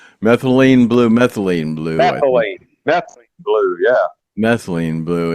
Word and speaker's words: methylene blue: I don't know if anybody out there has been hearing about this methylene blue. Am I pronouncing it right? Methylene blue.